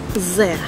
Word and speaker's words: sehr: Sehr.